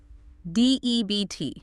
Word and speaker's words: debt: debt.